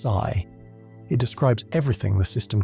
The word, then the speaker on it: psi: What we call the wave function denoted by the Greek letter psi f pronounced sigh.